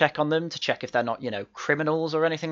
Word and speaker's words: Ngo: At least you got the American bit right, but since when is his last name Ngo? It's No.